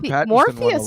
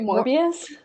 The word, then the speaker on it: Morbius: yeah it's very strange morpheus was good it got trashed wait morbius i say it wrong right yeah what is it more more peace more bs morbius i said morpheus i liked it i